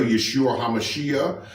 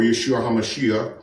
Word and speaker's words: Yeshua HaMashiach: his name is still Yeshua hamashiach or Yeshua hamashiach people from that area pronounce it like that with a bit of a CH or a K on the end but he's The God